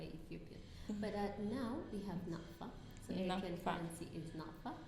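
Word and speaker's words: Nakfa: But now we have NAFA.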